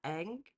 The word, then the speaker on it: Ng: Celeste oh my gosh I looked up how to pronounce her last name it's egg egg anyway um I have